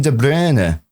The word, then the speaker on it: De Bruyne: The announcer at the Etihad for the past decade has been saying Kevin De Bruer. De Bruer, not De Bruyne. He's been saying the Belgium pronunciation. Now, I prefer the English pronunciation, so I say De Bruyne.